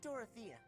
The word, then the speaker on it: Dorothea: me and doroth a we keep saying her name wrong by the way hey Dorothea Sia than you do